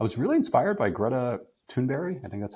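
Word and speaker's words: Thunberg: for CDR I was really inspired by Greta tunberry I think that's how you say her name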